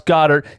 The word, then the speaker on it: Goedert: I know I tried to say that yesterday or the day before for Jalen Raegor, and I couldn't say it correctly. I said it right this time. 21-day practice window, Dallas Goedert. Give me tingly feelings inside.